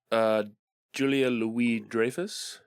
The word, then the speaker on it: Julia Louis-Dreyfus: It stars Julia Louis-Dreyfus.